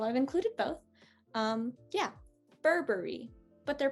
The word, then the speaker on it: Burberry: how we pronounce it we're not going to pronounce it as berry as in the fruit uh we're gonna pronounce it more like like the the bur sound that we make here burberry i've included two um